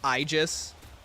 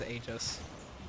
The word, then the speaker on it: Aegis: It's pronounced Aegis. Oh, is it? I thought it was Aegis.